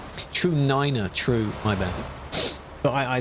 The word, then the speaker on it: niner: Because they say it like that, because if you say 9, it sounds like the German way of saying no, which is it does. So to avoid it being a confusion, we're back in the Alps.